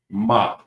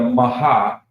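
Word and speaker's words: מה: So to pronounce it, ma. Ma. It's not going to be a maha.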